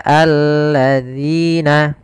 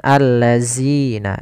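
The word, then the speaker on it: الذين: harakat kemudian Sabat Quran hati-hati di dalam pelafalan dalzalnya dalal di sini agar dia terbaca dengan baik itu dengan ujung lidah kita kita menempelkan dengan Gigi Sari atas dza dzi Maka alladzina hati-hati jangan terbaca dengan alladzina ini kesalahan yang sering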